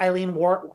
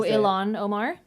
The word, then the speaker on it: Ilhan Omar: have people like AOC, Jasmine Crockett, and like Eileen what is it, Eileen? How do you say her last name? Oh, Ilhan Omar?